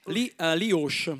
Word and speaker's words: Li Osc: E poi tra l'altro io dico Lee Osh, ma si pronuncia perché ovviamente loro sono... Campanilisti, no? No, vabbè. No, voi cosa dite? Lee Osh? Lee Osh, con la O chiusa, Lee Osh, che nel dialetto dell'Alta Valtellina, dei comuni Osh.